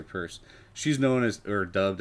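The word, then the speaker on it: Peirce: hester's uh hester i i don't think it's pronounced pierce it's it's a purse i think huh i should look that up pierce it looks like pierce but it would be ie i think it's purse hester purse she's known as or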